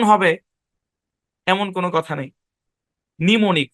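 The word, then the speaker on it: mnemonic: এটা হচ্ছে সে শব্দ এমটা সাইলেন্ট হ্যাঁ সাইলেন্ট এখানে এ বরাবর ভাগ হবে নি মনিক নিমনিক এটার উচ্চারণ নি এপাশের উচ্চারণ মনিক নিমনিক একটাই শব্দ খুবই আনকমন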